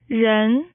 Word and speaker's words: 人: This character is pronounced in Mandarin as 人 It is composed of two strokes.